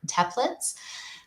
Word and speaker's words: Teplitz: to be here with our guest tip teplets um i'm sure i mispronounced your last name i apologize um